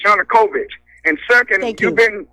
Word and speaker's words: Yanukovych: short your new convinced is not pronounced you nucleus is Yanukovych and ii think you've